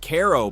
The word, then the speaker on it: Cairo: Strategically positioned at the confluence of the Mississippi and Ohio rivers, Cairo, named after the Egyptian city but pronounced Cairo by locals who will absolutely correct your pronunciation, was founded in 1818 with dreams of becoming the New Orleans of the North.